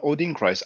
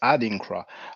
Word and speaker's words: Adinkra: name wrong upon this it's not odin christ adinkra i don't know if